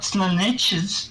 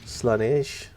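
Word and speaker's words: Slaanesh: It's not Slaneches. Slanish. Slanechi. That's what we... Slanish. His name's Slanish. Slanish. You like Slanish, lad?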